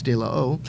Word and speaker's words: De La O: so I walk in of course we're pronouncing it wrong it's de la oh and it's in a warehouse